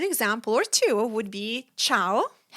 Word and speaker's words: ciao: So if the C is placed before I or E, it's pronounced as ch like church in English. An Italian example or two would be ciao.